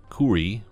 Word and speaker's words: KOORUI: from a brand named kuri from what I've seen online that's how you pronounce it but I haven't found